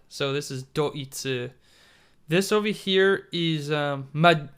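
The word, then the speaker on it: ドイツ: is actually germany but it's pronounced as doitsu because germany is uh deutschland so this is doitsu this over here is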